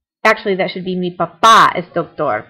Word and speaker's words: papá: Actually, that should be mi papá es doctor. Papa means potato. Papá means dad, so there should be an accent on the A.